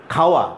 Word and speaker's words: খাওয়া: ব্রাহ্মণবাড়িয়া জেলার মানুষের মুখের উচ্চারণ, ওরা খ স্পষ্ট করে উচ্চারণ করে না, খকে ওরা হ উচ্চারণ করে। যেমন খাওয়া, আমরা বলি খাওয়া দাওয়া করেছেন, ওরা বলে হাওয়া দাওয়া করছেন। এই যে খাওয়া, হাওয়া।